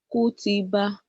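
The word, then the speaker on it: كُتِبَ: You know, when you pronounce the first letter, you will wait. Then you pronounce the second letter, you join it together.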